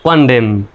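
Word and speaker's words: condemn: এন শব্দের শেষে এমন আছে এন এর উচ্চারণ silent D ই ডে এম এর জন্য ম Dame কনডেম সি ও এন ডিএম এন কন্ডেম।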